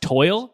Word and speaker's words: TOYL: Yeah, it was Time of Your Life, but it became the acronym TOYL, which is pronounced toil, which yes, I remember you're toiling through life.